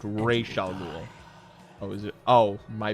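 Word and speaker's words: Ra's al Ghul: But but her father is pronounced Ral Ghoul.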